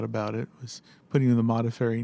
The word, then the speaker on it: Modafferi: on it, is that people would often mispronounce it. They would call him Montefiore. Montefiore. Yes, they were more familiar with that name. So it was often the case they would just not come out right.